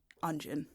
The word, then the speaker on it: Anjiin: Let's try to do the canonical Jefferson Mays pronunciation that kind of sounds like Asian. Anjiin. He swallows the N on it.